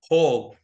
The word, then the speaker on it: whole: okay people this word whole the W is silent so there is no difference between this word and this word same pronunce ation whole and ho o ho and ho is the same thing right so without showing